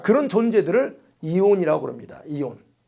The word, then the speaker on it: aeon: 이온. AEON인데 이온. 발음상은 이온이에요. 이온이라고 말합니다.